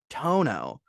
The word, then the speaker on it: Toño: So that is Toño. That's the N with the squiggle. But the tilde is silent when you say it out loud. So it's just Toño.